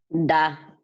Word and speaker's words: cardápio: Aqui, a segunda palavra, que é a palavra de Guilherme nesse momento, a palavra cardápio, Guilherme. Qual seria a sílaba tônica aqui? Dá. O dá.